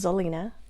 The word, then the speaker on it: Xellina: with an x and you pronounce the x like a z so my name is zelena kind of like selena so a lot of